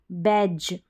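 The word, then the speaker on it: badge: sound ज है लेकिन डी यहां पर क्या है साइलेंट रहता है ऐसे जी ई के पहले जैसे जी के पहले डी आ रहा है लास्ट में ई आ रहा है तो यहां पर डी जो है साइलेंट है तो ऐसे भी याद रख सकते हैं कि डी जी ई का उच्चारण ज ज बैज फिर देखें तो आगे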